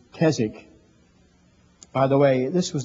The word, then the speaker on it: Keswick: understand I've heard the word Kazakh sometimes they pronounce it Keswick but it's Kazakh by the way this was the first year